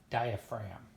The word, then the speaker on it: diaphragm: the ribs and diaphragm diaphragm is a crazy word spelled diet dia pH are AG and diet ragam pronounced diaphragm so don't worry you